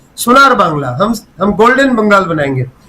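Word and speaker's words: সোনার বাংলা: रहे हैं वो लोग सुनार बांग्ला भी नहीं बोल सकते सुनार बंगाल बोलते हैं सुनार बंगाल जो नॉन बंगाली है वो सुनार बांग्ला का उच्चारण सुनार बंगाल बोलते हैं ये इस पर मीम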